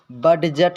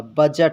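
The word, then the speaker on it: budget: इसमें भी साइलेंट होगा जैसे बजट बड जट नहीं पढ़ा जाएगा बजट पढ़ा जाएगा बजट इसी तरह आप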